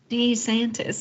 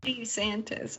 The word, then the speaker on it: DeSantis: Yeah, I've been saying DeSantis for the longest time. And then in his ad recently, he said DeSantis. And I was like, is he saying his own name wrong or are we wrong? He's just making it more fancy, that's all. DeSantis, like Ohio State.